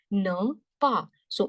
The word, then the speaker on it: ne pas: Ne, pa. So last letter E silent, ne. This is pa. Last letter S silent, ne pas.